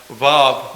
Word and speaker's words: Vav: And third letter is pronounced Vav, meaning nail.